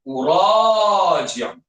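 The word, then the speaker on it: أُرَاجِعُ: Tapi tuan-tuan tak boleh baca kena baca u. Dibacanya uraji'. Okey.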